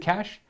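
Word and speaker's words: cache: artificer bolt cash, cashache, I think cash. Is it cash? I can never I can never remember how to pronounce that. Both technically correct. I think they're both right, but uh and then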